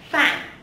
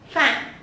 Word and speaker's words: Phạm: Phạm. Phạm.